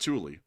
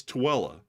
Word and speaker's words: Tooele: Like, this one, Thule. It's not Thule. Matthew, what is it again? Tooele. It's Tooele. What are some of the other weird ones around here?